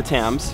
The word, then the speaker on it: Thames: seen an amazing river line this is the Thames James 10 they spell it very odd like this I've seen a